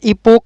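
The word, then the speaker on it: epoch: इस समय इस सी एच का जो उच्चारण होता है ना वो क से होता है। जैसे इसको हम बोलना चाहें तो स्टोमैक बोलेंगे, च नहीं बोलेंगे। इसको बोलना चाहें तो इपोक बोलेंगे, इपोच नहीं बोलेंगे।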